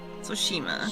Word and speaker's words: Tsushima: According to Google pronunciation, Soshima. Tsushima. Ghost of Tsushima.